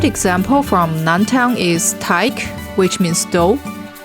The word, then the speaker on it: Teig: A good example from Noun Town is Teig, which means dough. It starts with t and ends with k.